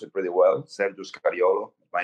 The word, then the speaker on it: Sergio Scariolo: You pronounce it pretty well. Sergio Scariolo, my name.